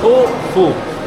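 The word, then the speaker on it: Khufu: En los jeroglíficos es la letra O como un pájaro, la F como un insecto y otro también, por eso se pronuncia Kufu.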